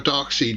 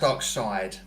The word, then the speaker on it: Darkseid: we should have a dark seed movie Good Golly darkseidus is here well it's pronounced dark side oh whatever um you